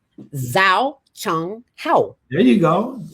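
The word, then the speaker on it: 早上好: Zhao Shang Hao. Zhao Chang Hao. There you go. Zhao Shang Hao. Spell that for me so I can write it down.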